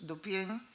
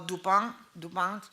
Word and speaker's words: Dupin: protagonizados por el famoso Auguste Dupin, o Dupin, creo que se pronuncia, ¿no?